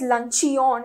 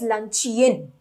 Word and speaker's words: luncheon: So as you can see, it's not pronounced as luncheon, it's pronounced as luncheon and written by William Somerset Morgan.